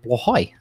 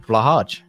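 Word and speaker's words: Blåhaj: They told me that it's actually pronounced Blahaj, not Blahaj.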